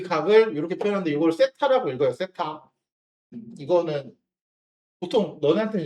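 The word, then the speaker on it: θ: 그 각을 이렇게 표현하는데 이걸 세타라고 읽어요. 세타. 이거는 보통 너네한테는 이렇게 세타까지 써서 주진 않는데 세타라고 읽고 이 탄젠트 값 있죠.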